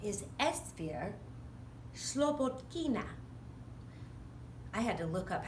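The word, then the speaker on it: Esphyr Slobodkina: of times we say Esther slippage Kuna because we don't necessarily pronounce Russian names exactly the way they're pronounced in Russia she moved here from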